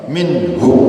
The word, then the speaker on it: مِنْهُ: Tapi kalau minhu itu hunya pasti pendek karena depannya adalah hurufnya mati.